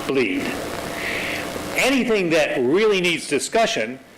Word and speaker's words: Blead: The master branch of our repository is known as Blead, spelled B-L-E-A-D, but pronounced Bleed.